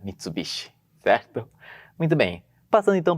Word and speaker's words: Mitsubishi: de carro é verdade as pessoas não falam MIT bichi né Fala Mitsubishi então né que em